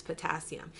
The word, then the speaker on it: potassium: Now, if you'll notice here, it's pronounced hypocalcemia, but the calcemia is spelled with a K. That's telling you it's potassium.